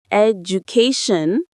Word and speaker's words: education: When you say it education, the stress lands loud and clear on that third syllable.